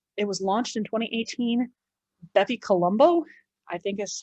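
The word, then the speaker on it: BepiColombo: But coming up, it was launched in 2018, Bepi Colombo, I think is how it's pronounced.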